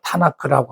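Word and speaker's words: תנ״ך: 그러니까 이게 크지요. 크 발음이 나죠.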